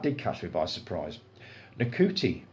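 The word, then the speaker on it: Ncuti: catch me by surprise NTI pronounced shoy I didn't know that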